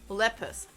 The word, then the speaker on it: Lepus: Google saying Lepus is pronounced Lepus.